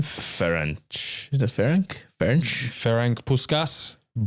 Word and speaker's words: Ferenc: Ferenc.